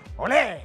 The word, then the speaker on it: olé: Pero también es una expresión cuando de pronto alguien hace algo de aplauso, es ¡olé! ¡Olé! ¿Eh? Con claro. Acento en la E. ¡Olé!